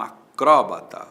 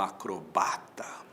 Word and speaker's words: acróbata: Fulano é um acróbata ou é um acrobata? Tanto faz. Acróbata ou acrobata. Acróbata proparoxítona com acento. Acrobata sem acento. Paroxítona. O jacaré é um réptil ou é um reptil?